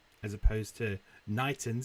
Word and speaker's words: Knighton: We have the Eastern Yar, which sort of comes from excuse me, Knighton, spelt with an N, as opposed to Knighton, spelt with a K.